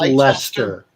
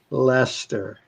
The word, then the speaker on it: Leicester: show that uh get uh that's that's that's pronounced lester lester yes thank you thank you joseph i knew